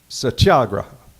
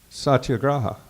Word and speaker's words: satyagraha: of to do this quote I have to pronounce this word it's his word for his non-violence movement so bear with me it's satyagraha satyagraha thank you you know I played the little